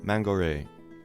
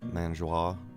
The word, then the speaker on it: Mangoré: Agustin Barrios Mangoré.